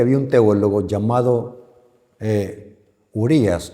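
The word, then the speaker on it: Uriah: ¿Sabe de que había un teólogo llamado eh Urías o Uray? Yo creo que se pronuncia en inglés Uray, pero yo soy salvoreño, tengo que pronunciarlo en en español.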